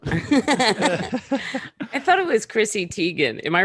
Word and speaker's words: Teigen: Actually, I think it is technically Teigen. I think I remember her tweeting that. Being like, it's pronounced Teigen. She's like, people say Teigen all the time.